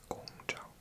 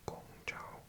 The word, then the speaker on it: Guangzhou: In Cantonese, it's Gong Chao. Or Gong Chao.